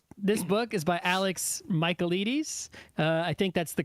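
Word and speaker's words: Michaelides: So, this book is by Alex Michaelites. Uh, I think that's the correct way to say it. You just say Michael and then you say Edes because he's Greek.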